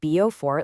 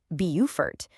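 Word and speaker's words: Beaufort: It's not Bofort like in North Carolina. It's Bupertfort.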